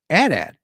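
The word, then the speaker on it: AT-AT: controversy earlier today with Loki how do you pronounce atat just like that atat I remember the commercials on TV when I was a kid um the announcer and the kids playing with the Adat said Adat uh but Loki I understand your argument uh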